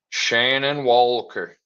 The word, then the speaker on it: Shannon Walker: Repeat after me, people. Shan. On. Walker. Shannon Walker.